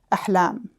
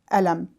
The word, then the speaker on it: Ahlam: And my mother wanted to name my sister Ahlam. And my dad would pronounce the name Alam, which means pain in the Arabic language.